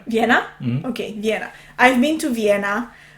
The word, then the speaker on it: Vienna: how do you say it in English Veen Vienna Vienna okay yeah I'm to Vienna and unfortunately could